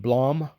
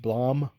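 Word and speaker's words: Blame!: I actually still need to read the other volumes, but if you're familiar with Blom, that's how it's pronounced. Blom.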